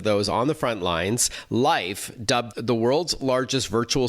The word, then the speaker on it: Lyf: Joining us on the line to tell us more is Kate McDonald, Head of Operations and Product at Life, which is spelled, by the way, L-Y-F.